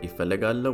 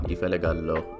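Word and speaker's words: እፈልጋለሁ: Ifelig al and then o, like oh my gosh or something, but this is technically the correct way to spell it out.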